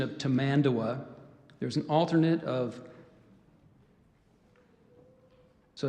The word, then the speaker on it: tamandua: you the pronunciation of tamandawa there's an alternate of so I gave you to mandawa there's tamanda wah commandua t a m a